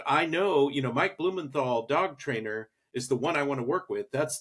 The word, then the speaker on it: Mike Blumenthal: I'm going to go to Google and I'm going to say Mike Blumenthal dog trainer only, you know, New York. Is that the correct pronunciation, Mike?